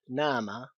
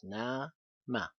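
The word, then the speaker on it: نام: in this case, and it's pronounced as na-ma. Here's the two syllables, na-ma. And when you read it, of course, you do not emphasize the syllable as much, and you read it as nama.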